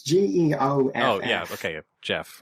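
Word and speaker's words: Geoff: G-E-F-F? G-E... Oh, God, I think it's G-E-O-F-F. Oh, yeah, okay, Jeff, right. Jeff. Sorry, for a second I imagined G-E-F, like Geff.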